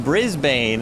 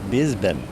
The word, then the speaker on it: Brisbane: Of course, they don't pronounce their R's, so it's probably Brisbane. Brisbane, if you're speaking Australian, because they don't really put much emphasis on R's.